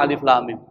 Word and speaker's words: Alif Lam Mim: terputus-putus jadi nggak bersambung kalau dibaca bersambung berarti seperti ada huruf alif lam mim alam itu namanya bersambung tapi ini disebut dengan huruf yang terputus-putus dibacanya maka membacanya harus Alif Lam Mim ini adalah salah satu